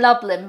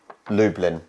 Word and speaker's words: Lublin: next number nine well I would read it in Loveland but it's not lovely it's not far off it's not far yeah I think it's more Lube Lublin Lublin Lublin oh yeah so Lube because it's just Dublin with an L let's be honest for